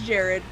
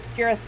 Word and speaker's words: Jareth: I refuse to think of it as Jared. Nope, you're not ruining Jared for me. Nope, Jareth. Jareth.